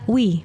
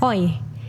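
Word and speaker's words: Oey: Oh dibacanya Wi. Iya. Berarti Oh, harusnya itu sebenarnya nama dia bacanya tuh Wi. Morgan Morgan Wi. Wi. Morgan Wi. Oh bukan Morgan Oi.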